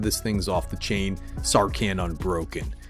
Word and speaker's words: Sarkhan: It's probably pronounced Sarkhan. Put a little stink on that last syllable.